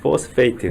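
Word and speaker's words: phosphate: PH이기 때문에 F 발음을 해줘야 됩니다. 포스페이트.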